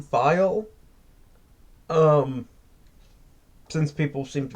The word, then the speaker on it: Thayil: All right, now as for me, first of all, I will say I believe his name is pronounced Kim Thayil.